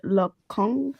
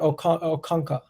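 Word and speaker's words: Okonkwo: speak on the goalkeeper is it look kong what i don't know how to pronounce it no no no it's it's uh it's arthur o'kanka yeah um there's actually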